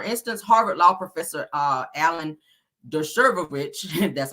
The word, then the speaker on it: Dershowitz: Now they're saying that, for instance, Harvard law professor Alan Dershowitz, that's how you say his name, is publicly named in the judge's order.